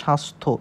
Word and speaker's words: স্বাস্থ্য: ফলা যুক্ত হয়েছে না যদি জ ফলা যুক্ত থাকে তাহলে এই জ ফালাটার উচ্চারণ হয় না এজন্য এখানে শূন্য দিছে তাহলে এর উচ্চারণ কেমন হচ্ছে স্বাস্থ্য এখানে কিন্তু জ ফলার উচ্চারণটা নাই এবার আসুন র ফলার